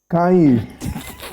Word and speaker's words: Kanye: Kanye West has posted on his Instagram page screenshots